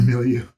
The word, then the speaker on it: milieu: Our milieu. Oh, did I mispronounce it? No, you were totally right.